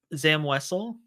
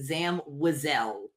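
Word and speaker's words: Zam Wesell: I pride myself in being able to pronounce the names correctly. Zam Wessle.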